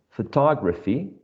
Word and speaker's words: photography: philosophy words 74 is photography which has four syllables and the second one is the most salient one and my last word